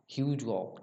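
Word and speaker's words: Hugh Gough: Battle of चिलने वाला, ये भी ज़्यादा इंपॉर्टेंट नहीं है, पर ध्यान रखिए यहाँ पे एक नाम ह्यूज गॉक, ठीक है, जिस तरह से आप प्रोनाउंस करना चाहिए।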